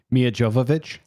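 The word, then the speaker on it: Milla Jovovich: I can never pronounce her name. Mia Jovovich.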